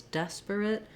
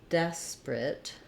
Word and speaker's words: desperate: we say desperate, and it's not incorrect to say it with 3 syllables, desperate, but you will hear people say it more like desperate with just 2 syllables.